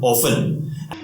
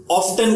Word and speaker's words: often: Actually इसको ज्यादातर लोग ऑफ्टन करके बोलते हैं। लोगों को लगता है द स्पेलिंग इज OFTEN, मतलब उसे ऑफ्टन बोला जाता है। बट यहां पर एक गलती हो जाती है, द T letter is silent. तो अगर T साइलेंट है सो the pronunciation will be ऑफन।